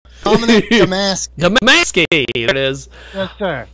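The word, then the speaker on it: Dominick Domasky: Is that how you pronounce the name? You're pretty close. It's DominickDomasky.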